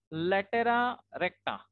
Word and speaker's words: latera recta: Okay, so since we are having two directrices, so we also have two latus rectum over here, and that is generally pronounced in plural form as latera recta.